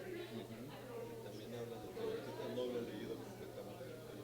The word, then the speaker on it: Tenochtitlan: La investigación hay Tenochtitlan, y es Tenochtitlan, como yo estaba pronunciando. Y sobre todo en náhuatl, la mayoría de las palabras son graves. Son graves, Casi no hay agudas.